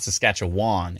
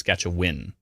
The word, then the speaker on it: Saskatchewan: because everyone says no no no it's not Saskatchewan it's skatch a win even though it's w an somehow it's win